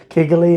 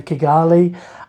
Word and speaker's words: Kigali: I got here that I've been saying it wrong I think on previous videos I said kiggly and my typical nor accent throwing in um vowels that shouldn't be there um so Kali um it's warm um